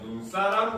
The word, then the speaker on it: 눈사람: 사람을 합쳐 가지고 만들어낸 눈사람 같은 경우는 그죠 발음을 하게 되면은 눈 사람 렇게 소리가납니다 그죠 즉 똑같은 눈이고 긴 소리가 나는 눈이고 어절의 뭡니까 첫 음절에 위치했기 때문에 이때는 긴 소리가 그대로 유지가 된다는 뜻이에요 알겠습니까 그래서 여러분들이 눈사람 이렇게 얘기를 해야 되는 겁니다 자 그런데 반대로 박이라고